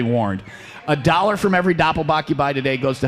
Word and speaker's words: Doppelbock: i know how it's because doppelbach rhymes with will rock a dollar from every